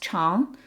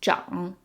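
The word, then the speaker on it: 长: so when it means long it's pronounced charm when it means to grow it's John and then the opposite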